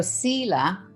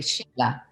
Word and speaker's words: Siila: No, actually, in my mother tongue, Inuktitut, there is no SH sound. So Sila, which is a long E, right, is actually Sheila. But everybody just calls me Sila at home.